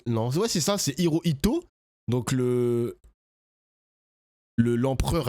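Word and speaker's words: Hirohito: Le Japon, c'était pas un très beau pays à l'époque parce que c'était l'empereur Hooito. Non, je crois que je l'ai mal prononcé. Hiroito, je le Non, ouais, c'est ça. C'est Hiroito, donc le le l'empereur à l'époque qui a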